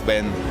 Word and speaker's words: Ven: How would I pronounce the EP name? Vein. Yeah, it's Ben. Then Yeah.